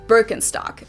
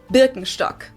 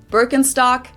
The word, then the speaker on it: Birkenstock: the world nowadays and it's natural that people pronounce it with their native accent. So English speakers usually say Birkenstock. In German, we say Birkenstock. Birkenstock.